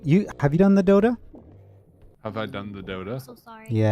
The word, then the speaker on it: Dota: I think it's pronounced Dota. Oh my gosh. It's called Dota.